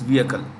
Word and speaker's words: vehicle: The H in vehicle is silent. It's vehicle.